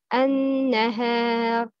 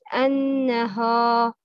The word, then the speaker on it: النهار: An-nahar. The right pronouncing is النهار. Ha, it's light, not heavy, because ha is light. The wrong pronouncing is النهار. No, not ha, it's ha.